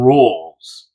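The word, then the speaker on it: Roels: And uh I noticed that uh an obituary for a guy named Ron Rolls, and that's spelled R O E Ls.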